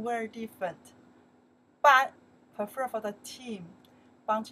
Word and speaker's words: 班: It's not 课 This one we pronounce the 班 The meaning is still class. 班班 still class. And 课 and 班 very different. 班 prefer for the team.